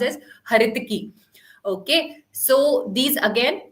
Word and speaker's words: haritaki: as ala Baki har haritaki it's actually not haritaki it should be pronounced as haritaki okay so these again like I told you